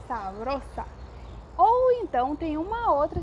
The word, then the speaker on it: sabrosa: sentido também de saborosa, mas presta atenção na pronúncia, que é sabrosa.